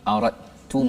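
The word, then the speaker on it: أردتم: Wa in aradtum istibdal. Apa hukum ni kat situ sikitlah ya. Kita sebut aradtum wa in aradtum. Tak ada pun huruf dal. Kat situ tak bunyi pun dari sudut sebutan huruf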